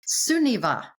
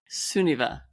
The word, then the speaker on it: Sunniva: Sunniva. Sunniva. It's a good Norwegian name.